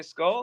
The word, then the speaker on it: Skål: She's like, "Oh, we can actually say skull?" And I was like, "Yep, officially."